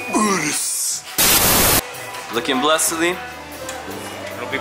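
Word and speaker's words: Urus: Just like the Urs, you can't say Urs. It's Urs.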